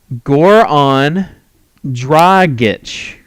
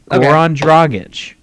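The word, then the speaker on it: Dragić: correct the correct pronunciation the correct pronunciation um Goron drit Goron drit right I mean because if it was drit it would have a j yeah well no no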